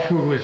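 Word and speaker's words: Fuglei: All Fuglies are related. Evidently so. If it's spelled F-U-G-L-I-E or F-U-G-L-E-I.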